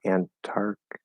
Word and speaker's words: Antarctica: antarctica antarctica um this the first t is a strong t the second t is a weak t um so the second one is fully pronounced as far as a weak tea goes um and then antarctic antarctic same thing there but uh none of them flap so let's see if